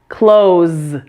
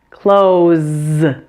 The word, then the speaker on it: close: close the door and close as in shirt or pants the S at the end is voiced right you need to turn on your vocal cords here in your throat so the S is pronounced as AZ close close the words in the